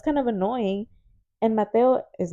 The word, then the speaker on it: Mateo: And now, for example, Mateo, his name is Mateo. It's not Mateo. It's Mhm. not Matthew. It's Mateo. And I tell him all the time, your name isn't whatever they want to say. Your name is Mateo.